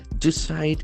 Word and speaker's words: decide: someone ask to decide decide is a verb from the noun decision decide decide we can see that letter C has got a soft s sound you choose something desde